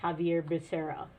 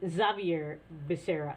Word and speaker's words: Xavier Becerra: The only reason he's being picked, Javier Becerra. That's how you pronounce it. And if you were in Spain, it might be Xavier Becerra.